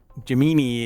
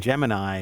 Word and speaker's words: Gemini: Jimini is actually the accurate and Gemini is the not accurate.